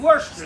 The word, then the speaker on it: Worcester: Worcester, that's right. Worcester. I always pronounce it bad.